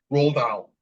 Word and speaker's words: Dahl: I butchered it. It's awful. Anyway, The Witches. Oh, I love The Witches. Angelica. Roald What? Dahl.